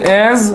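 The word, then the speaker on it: -ase: থাকে বাংলা উচ্চারণটা হচ্ছে এজ বাংলা উচ্চারণটা হচ্ছে এজ এজ ই এজ যেমন আমরা যাকে ভাঙতে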